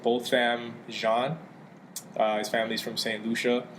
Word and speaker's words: Botham Jean: the victim name is how do you pronounce his name both both Ram Shawn his family's from st.